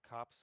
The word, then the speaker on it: copse: Um, a copse of trees. On tops? On the No, top of trees? cops like COPS or something like that, or I don't know what the spelling is, but like yeah, yeah.